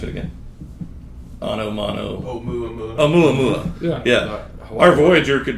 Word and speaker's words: Oumuamua: Our Voyager craft could be the how do you pronounce it again? Oumuamua.